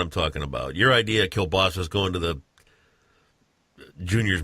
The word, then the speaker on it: kielbasa: the way what's that it's kielbasa Cabasa yeah you mispronounce oh yeah yeah Polish